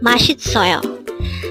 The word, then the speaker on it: 맛있어요: here at dayhenga word number 301 mashi soil mashit soil this pronounces the four syllable word the first syllable